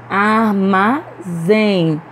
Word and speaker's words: armazém: paletó também é oxítona armazém armazém pronunciamos com mais força a última sílaba então essa palavra aí também é oxítona e já quando a